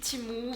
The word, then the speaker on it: Temu: la boutique en ligne temu ça se prononce aussi timou vous prononcez ça comme vous voulez j'ai pas un accent